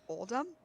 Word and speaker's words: Oldham: When Mother said Old Doom, I'm like, what is she? Oh, she didn't mean Oldham? That's silly. She's mispronouncing it. Well, it's just Um, she's got an accent. She's got a Titan accent.